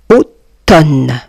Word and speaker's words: automne: Automne. Tonne. Voyez ici les amis, le M est une lettre muette.